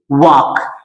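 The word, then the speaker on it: walk: जैसे यहां पे डब्ल्यू ए एल के वाक। इसको वाल्क कुछ लोग पढ़ते हैं। ये वाल्क नहीं होता है रे बच्चा। ये बच्चा ये वाल्क नहीं होता है। ये होता है वाक। वॉक मीन्स होता है चलना।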